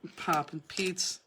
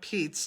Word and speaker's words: Poppin' Peeps: Poppin' Peeps. Poppin' Peeps, not Pete's.